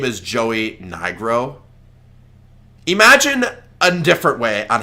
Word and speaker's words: Nigro: Now, I don't think it should come as a surprise that Joey Negro, Nigro, whatever. No, buddy. Iris, that's not how you say its name. Say Nigro, not the other thing.